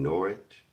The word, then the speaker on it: Norwich: In the Coleman's mustard video, two people commented something about I pronounced Norwich correctly. They gave me props for saying Norwich correctly.